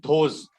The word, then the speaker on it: those: Answer is correct, but the pronunciation is those. TH, those. Okay, Those.